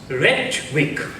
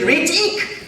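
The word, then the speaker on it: ঋত্বিক: রেট উইক। ওটার আসল উচ্চারণ হচ্ছে রিটিক, তার মানে প্রিস্ট, ফাউন্ট অফ উইজডম।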